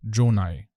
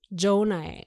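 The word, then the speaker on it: Gjonaj: Ça s'écrit G-J-O-N-A-J. Et ça se prononce Jonaille. Jonaire.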